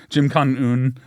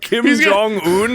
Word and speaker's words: Kim Jong-un: Jim Con-un. Who? Did I say it wrong? Jim Con-un? The fuck? Jim Con-un. Jim Con-un. Are you talking about Kim Jong-un, the leader of North Korea?